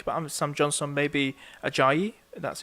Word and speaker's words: Ajayi: could probably think about having Sam Johnston, maybe Ajayi, that's how you pronounce the name, the one who scored against Liverpool.